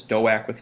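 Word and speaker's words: DOAWK: a Wimpy kids so I just put do a wk and it became pronounced as doe a quit in my classes so if a student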